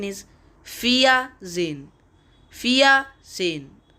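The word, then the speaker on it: vierzehn: h n is 14 in german and its pronunciation is fia zin fia sein f u n f z e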